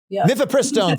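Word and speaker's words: mifepristone: You're going to pronounce it correctly. Methristone.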